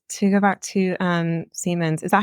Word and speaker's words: Siemens: good feeling and to go back to um Seamans is that how you pronounce it Seamans yeah to make sure um to go to